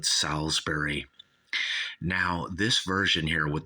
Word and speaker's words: Salisbury: album by Uriah Heap salsbery uh salesberry is spelled but we all call it salber now this version here